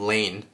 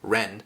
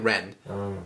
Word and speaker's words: Lean: Yeah, so like so like in English we would call him Lean, but then in the anime they pronounce his name like Ren, kind of more like Ren.